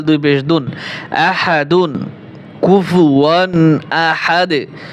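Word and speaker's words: أحد: পেশ দুন আহাদুন কুফুয়ান আহাদ ওয়াকফ করলে আহাদুন হবে না আহাদ ওয়ালাম ইয়াকুল্লাহু কুফুয়ান কুফুয়ান আহাদ ওয়ালাম ইয়াকুল্লাহু কুফুয়ান আহাদ আমার সাথে সাথে শুরু থেকে বলেন কুলহু আল্লাহু আহাদ اللہ لলাম یلد ولم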